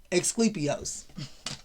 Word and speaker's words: Asclepios: Asclepios.